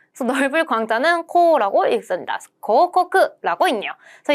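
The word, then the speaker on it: 広告: 바로 고코크라고 해서 광, 이것도 봐봐요. 횡자랑 비슷하게 읽기 어렵다 싶으면 뒤에 우자가 붙어 있답니다.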